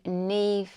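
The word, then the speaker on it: Niamh: it wrong it's the Neeve skirt but when you see it spelt it's an Irish name and it's spelled differently to how it's actually written and I had to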